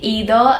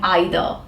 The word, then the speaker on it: either: to say it as either go ahead you want to say it as either that's also okay okay there's a difference of you know American and British pronunciation so both both are fine you can use any